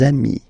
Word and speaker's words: amis: des ami, okay, and if you make the liaison, so the link between the two, you will get des amis, okay, des amis. So ami, remember, doesn't change. Even if you get to write the S, then you don't pronounce it, okay.